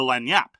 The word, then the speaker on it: lagniappe: they call that rule the lagniappe, which apparently that's how it's pronounced, which is a big cultural thing in New Orleans and other parts of the South.